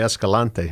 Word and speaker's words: Escalante: proper cuz I don't know spaniel you say Escalante yes to escalate is that what that means